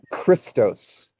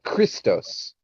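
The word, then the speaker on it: Χριστός: the idea that uh christ was once pronounced uh christos in greek uh before english american speaking people said christ it was formally pronounced uh christos and it has the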